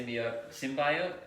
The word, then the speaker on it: symbiote: Such a- It's the symbiote.